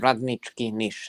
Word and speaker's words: Radnički Niš: Radnički Niš. Yeah, not very good. Radnički Niš. That's how you pronounce it, but yeah.